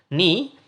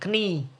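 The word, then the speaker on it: knee: melindungi ini itu adalah nih Walaupun ada huruf k nya di depannya dibacanya jangan kening tetapi dibacanya nih Protector dipakai untuk memprotek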